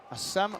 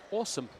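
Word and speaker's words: Assem: Lloyd because uh we've been calling him uh a Sam marai throughout you discovered that his name should be pronounced awesome and he has been very much that so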